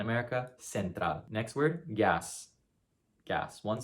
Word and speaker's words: gas: Next word, gas, gas. One syllable, should be pretty simple. It's gas, gas. So that A sound is the pure A, remember.